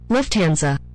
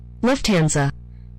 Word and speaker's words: Lufthansa: say hell no bro let's move on pronunciation oh yeah here we go ready Lufthansa huh Lufthansa Lufthansa left hand I would have never got that